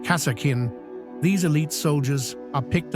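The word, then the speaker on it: Kasrkin: of Duty and honor both impressive and intimidating pronounced casakin these elite soldiers are picked up while serving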